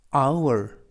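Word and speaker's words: hour: 뭐래 뜸 로 웬 듬 뜻은 리듬이 되겠구요 아우 월 아우 월 뜻은 시간 이구요 아니 이스트 아니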